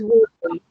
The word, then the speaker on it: women: Yes, men, but women is women, porque el acento está en la primera sílaba de women.